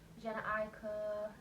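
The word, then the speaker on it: Jhené Aiko: Like Jenna Aiko, that's how you say her name, Tory Lanez, Chris Brown, I like stuff like that.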